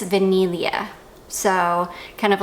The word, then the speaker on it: Vaniglia: you don't pronounce it you don't pronounce the G it's not vaniglia it's vanilia so kind of like